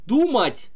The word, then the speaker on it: думать: Например, думать, строгать. Ать-ать, заканчивается на ать-ать, понимаете? То есть, вот у нас два глагола. Думать, строгать. Думать на у падает ударение, а строгать на а.